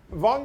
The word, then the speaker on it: Wang: And in Europe, if you're German and you spell something with a V, they pronounce it F, like Volkswagen. So my name changed back in 1441. They spelt with a V, and then they changed it from a V to W, because at that time there was a lot of trading between Germany and Norway. So in Norway, then pronunciation V or W, same. Then the Germans also would say Wang.